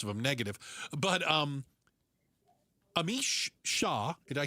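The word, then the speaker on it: Amish Shah: Most of them negative, but um Amish Shaw, did I say his name properly?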